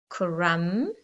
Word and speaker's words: crumb: Now remember, the silent B has a M before it. So we've got thumb, lamb, crumb.